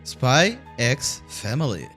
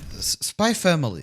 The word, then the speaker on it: Spy x Family: enemy ever made well spy x family oh sorry sorry sorry spy family spy family i didn't pronounce the ex i swear i'm obviously